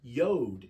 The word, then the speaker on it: yod: of the Hebrew alphabet it's pronounced yod in Hebrew and here it is